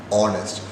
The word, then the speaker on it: honest: is not hardest but the H is silent here we pronounce it as only as honest so these are examples